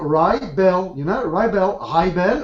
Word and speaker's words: Raibel: Like rice and bell, like a bell. Rye bell, rye bell.